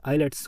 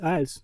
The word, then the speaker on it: IELTS: Second is आइल्स, कोई बोलता आइलेट्स, कोई बोलता आइल्स, बट the correct which आइल्स।